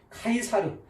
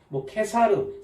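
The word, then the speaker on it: Caesar: 자, 가이사 그러면 카이사르, 케사르, 시저 이렇게도 발음을 하는데요.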